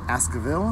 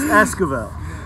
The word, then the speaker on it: Esquivel: rooftop with wonderful Oscar Ville that's right ass good yeah how you miss me mispronounced my left is Esquivel ask about the out